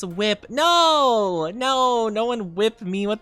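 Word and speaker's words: WIP: Oh, like it's pronounced whip.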